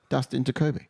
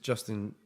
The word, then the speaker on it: Dustin Jacoby: Yeah, You've got his name wrong every time. I swear. Dustin Jacoby. You said Justin. Justin Jacoby. Dustin Jacoby.